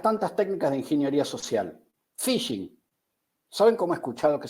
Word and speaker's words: phishing: O por ejemplo, esta pequeña palabra, una de las tantas técnicas de ingeniería social, phishing. ¿Saben cómo he escuchado que se pronuncia esto? Phishing, porque la H es muda.